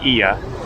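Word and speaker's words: Oia: Although they spell it O-I-A, I don't know why they do it, but it's pronounced Ia.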